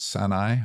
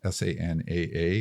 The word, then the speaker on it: SANAA: It was designed by one of the partners at Sanai. I always pronounce it wrong. Sanaa, who are just one